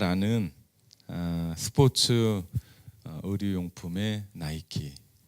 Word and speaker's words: 나이키: 우리가 너무나 잘 아는 스포츠 의류용품의 나이키. 이 뜻은 빅토리입니다. 승리입니다. V자를 마치 운동하며 달려나가는 것처럼 표현한 로고죠. 이 나이키는 헬라 신화에 나오는 리케의 영어식 발음입니다. 리케를 영어식으로 발음하면 나이키입니다. 헬라 신화에 나오는 이 리케는 승리의 여신이죠.